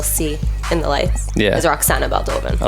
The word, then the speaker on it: Roxana Baldovin: the way you just told me how to pronounce it or the way I thought it was. Roxana Baldovin.